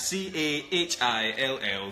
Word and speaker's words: Cahill: Cahill347, that's C-A-H-I-L-L 347. It's pronounced Cahill.